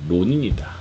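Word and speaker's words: 浪人: 할 일 없이 빈둥거리는 사람을 외색용으로 낭인이라고 부르는데 일본어 발음으로 로닌이다. 낭인과 로닌.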